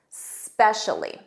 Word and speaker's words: specially: Notice that s, repeat that s, specially.